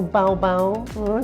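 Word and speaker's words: 宝宝: a little baby or baobao that's how you say it in chinese hello high five high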